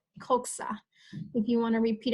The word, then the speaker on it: coxa: the word is called coxa. Coxa. If you want to repeat after me so you get familiar with the words, it's pronounced coxa.